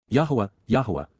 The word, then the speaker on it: Yahowah: Yahowah, the proper pronunciation of the name of Eloah, God as